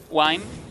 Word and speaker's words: Wine: a tribush and um then wine could or why that's actually how you pronounce his name um he can jump